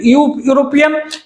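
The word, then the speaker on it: European: कि बिल्कुल करेक्ट है, बट यूरोपियन ये pronunciation is start with consonant यूरोपियन, इस प्रकार से ये यूरोपियन होता है, ये कॉन्सोनेंट है इसका प्रोनाउंसिएशन, तो कॉन्सोनेंट होने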